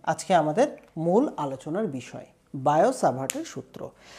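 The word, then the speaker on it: Biot–Savart: নিয়ে, তার নাম হচ্ছে বায়ট সাভার্ট। অ্যাকচুয়ালি বায়ো সাভার্ট বলা হয়, বইতে লেখাটা হচ্ছে বায়ট টি রয়েছে ওখানে, একটা টি এর উচ্চারণটা হয় না, বায়োসাভার্ট তার নাম, ঠিক আছে?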